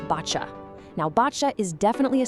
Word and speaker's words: Boccia: First things first, let's get the pronunciation right. It's botcha.